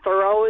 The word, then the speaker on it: Thurow: I'm Shari, and it is pronounced Shari, and Thurow is pronounced thorough, as in complete.